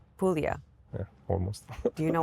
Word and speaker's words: Puglia: Puglia. Puglia.